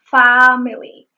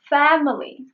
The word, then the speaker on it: family: And when she said family, she said family. That is also wrong. The word family is pronounced with this vowel. It is not family nor family. It is family.